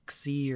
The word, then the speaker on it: Xi: Yeah, President Xi, Xi. That's pronounced President Xi.